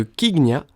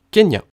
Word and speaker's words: Kenya: L'incoïncidence sur l'orthographe de son nom de famille entraîne ainsi le changement de la prononciation de Kignya en Kenya.